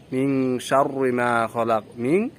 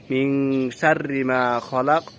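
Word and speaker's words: مِن شَرِّ مَا خَلَقَ: শব্দগুলা দেখলাম হুজুর উচ্চারণ করতেছে আউজুবি রব্বিল ফালাক মিশারমালা শার বলতেছে অথচ এখানে উচ্চারণ হবে মিনশারি মিনশারিমা খলাক ওমিনশার ওশার এই ভুলগুলা দেখলাম এই ভুল উচ্চারণগুললা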